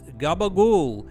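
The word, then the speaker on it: capicola: A staple in mob movie meals, Gabbagool, is one pronunciation of capicciola, a type of Italian what?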